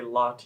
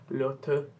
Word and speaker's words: Lotte: I'm Canadian, or at least North American, so we say Lotte instead of like Lotte, whatever the way it's pronounced, and that's how it's sang in here.